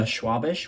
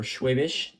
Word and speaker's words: Schwabisch: Today we're going to go over the Schwabisch or Schwabisch, depends on where you're from, how you say it.